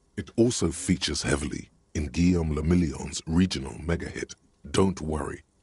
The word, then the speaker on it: Guillaume Lamillion: For Revachol, your city, that meant only one thing: Guillaume Lamillion. If it doesn't rhyme, you're not pronouncing it right.